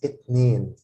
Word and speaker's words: اتنين: I have this kasra under this line under the alif. It makes me pronounce it a.